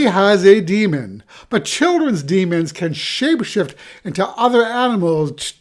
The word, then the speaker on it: daemons: Now, demons, and that's spelled Daemons, are one of the coolest parts of Philip Pullman's novels.